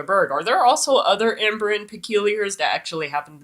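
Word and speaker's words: Ymbryne: In Tales of the Peculiar, it actually states that the very first Imbrin, which is actually the proper pronunciation for Imbrin, not Imbrine.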